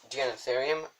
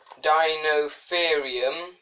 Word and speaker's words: Deinotherium: It's pronounced Deinotherium, well, on this anyway.